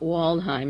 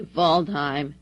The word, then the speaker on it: Waldheim: from impossible mr voldheim another german not waldheim it's spelled that way voldheim kissinger vershinsky the whole